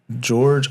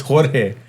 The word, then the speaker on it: Jorge: Jorge That's not I said George. It's Jorge.